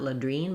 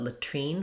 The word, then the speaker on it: latrine: Because we're stressing on this second syllable, the T does come out, so not ladrine, but latrine. We do have a burst of air there, so trine, like in the word tree.